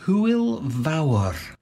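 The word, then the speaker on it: Hwyl fawr: join in with a goodbye yeah sure it's pronounced who will vour and it means goodbye and have fun cool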